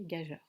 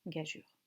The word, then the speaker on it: gageure: j'ai eu une paire peut on peut le prononcer gaza mais c'est moins tolérées et ça reste plus correct par rapport à l'étymologie de prononcer gageure il vous faut purger avec quatre grades et